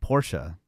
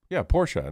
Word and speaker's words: Porsche: don't know, 15 years ago was the word Porsche. Oh, right. Porsche. But that's from Friends, too. I mean, classic scene. But you say... No. Porsche, not Porsche.